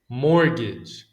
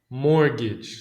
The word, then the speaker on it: mortgage: Mortgage. Mortgage. So, the T is silent.